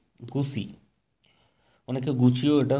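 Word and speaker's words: Gucci: দিয়ে পোশাক তৈরি বন্ধ করে দেবে, কে না, গুসি, গুসি, অনেকে গুচিও এটা উচ্চারণ করেন।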